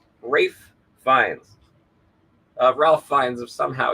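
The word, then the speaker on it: Ralph Fiennes: need to reiterate that that's Ralph fines who thinks his name is pronounced wraith Rafe Vines uh Ralph finds of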